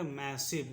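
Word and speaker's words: massive: भी का उच्चारण होगा व, और ई का उच्चारण नहीं करेंगे क्योंकि ई क्या है लास्ट में और उसके एक अक्षर पहले आया है, इसलिए इसको हम लोग पढ़ेंगे मैसिव, इसको पढ़ेंगे मैसिव।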